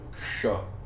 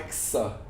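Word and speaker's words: क्ष: E esse cara é o ksha. Ksha. Ele é o K com o Sh cerebral. Não é Ksha, não é Ksa.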